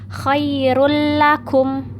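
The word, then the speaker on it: خير لكم: Kalau dhammah tain ketemu dengan huruf H sama, bacanya khairul lakum, khairul lakum gitu bacanya. Jadi enggak khairul lakum, enggak didengungkan. Nah, selanjutnya yang keempat ada iqlab.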